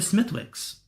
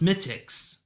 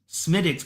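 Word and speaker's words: Smithwick's: That W is silent.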